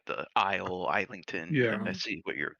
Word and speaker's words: Islington: But Islington is correct if it's Yeah.